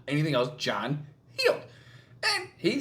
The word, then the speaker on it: Heald: the ax M said healed as if you were injured and it's now healed so it is John healed not held not healed not anything else John healed and he said uh